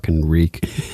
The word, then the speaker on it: Reek: storyline reek next to the wall breaking rhymes with freak nice so yeah um